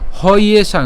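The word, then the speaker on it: হ্যেষাং: আর জফলা উচ্চারণ কার মতো হয়, ইয়র মতো হয়। হ্যাঁ, তাহলে হ ইয়েষাং, অর্থাৎ আমরা যদি এটাকে ভাঙি তাহলে আসলে মূলত হয় কি, হ ইয়েষাং।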